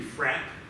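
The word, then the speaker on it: Fraeb: there's a man named henry frapp which is how he said his name but it's spelled f-r-a-e-b he was a partner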